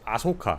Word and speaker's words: Ahsoka: right Asoka was great it's aoka I thinka it's aoka that's how you pronounce it I don't know why